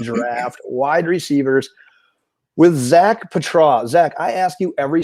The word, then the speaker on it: Patraw: It's Patraw.